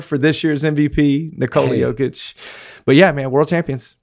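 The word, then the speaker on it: Jokić: whoa front runner for this year's MVP Nicole yic but yeah man world champions right there in Denver and that's the right way to pronounce it yic yic okay The Joker but it's joic j i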